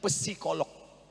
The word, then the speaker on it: psikolog: Tulisannya psikolog. Bacanya P-nya hilang, psikolog.